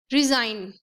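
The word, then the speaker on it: resign: रिजाइन, रिजाइन, न, आई एन न, जी का तो इसमें प्रोनाउंसिएशन आया ही नहीं।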